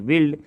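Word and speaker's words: build: बिल्ड पढ़ देते हैं, नहीं, यहाँ समझ लीजिए कि यू जो है वो साइलेंट हो गया, तब उसका उच्चारण आसान से हो जाएगा, BILD समझिए, बिल्ड। इसी प्रकार उसका V2 रूप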